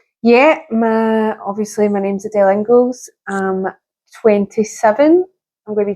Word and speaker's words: Inglis: So how do you say it? It's Inglis. Like Pringles.